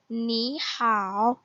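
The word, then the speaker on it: 你好: भी third tone है, so first syllable की जो थर्ड टोन होगी वो सेकंड टोन में कन्वर्ट हो जाएगी. जैसे कि आप यहाँ पे देखेंगे सेकंड टोन पे कन्वर्ट हो गई है. सो इसकी प्रोनाउंसिएशन जो होगी it's like नी हाउ नी हाउ.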